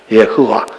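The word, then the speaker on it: יהוה: 이 네 스펠링 알파벳이 여호와를 이루어요. 예흐와랍니다. 예흐와.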